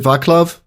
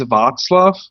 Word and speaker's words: Václav: Is it Vaclav? No, actually it's Václav. So you don't pronounce it as K, but as a C, as in word circle.